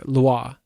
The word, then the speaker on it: lwa: to what you call a loa, or it's LWA, or it's pronounced loa. Loa is kind of the pronunciation I heard through the videos.